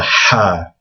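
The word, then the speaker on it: حاء: The next letter is the first one on this list that's really hard to pronounce. It's Ha.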